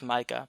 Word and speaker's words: Micah: on a side note, I've never heard that name pronounced Mika before. I always thought it was Micah, but that's just me.